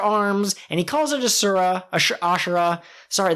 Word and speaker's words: Asura: He summons 3 extra heads and 4 extra arms, and he calls it Asura. Sorry, the fact that it's not spelled with an H always throws me off, but he summons Asura, and he uses the 9-sword style to deliver a blow that defeats Kaku.